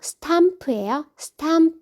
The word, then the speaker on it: stomp: The soldier stomped. 걷는 것도 여러 가지가 있는데 쿵쿵거리며 걷는 거 스탬프. 오가 아 발음이라서 stamp예요.